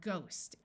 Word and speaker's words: ghost: time like in sight there are some words where the H is silent like in the word ghost and there are a